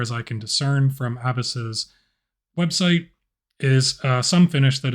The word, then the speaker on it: ABUS: Hey party people, Techno here, and today we are taking a look at an Abus, or what I suspect is more properly pronounced Abus, 64ti/50 padlock in their Titalium series.